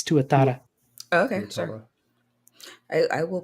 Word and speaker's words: tuatara: Oh, Bria's saying tuata. Tuata. Is that how you pronounce that? She missed an R. It's tuatara.